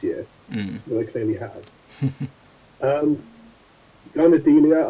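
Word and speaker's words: Garnidelia: Garnadelia, I think is how you pronounce it. Oh, Garnadelia, let's get to them. Oh yes, Garnadelia. Yeah, I always wanted to do it the other way around with the D's and the N's, but yeah, same.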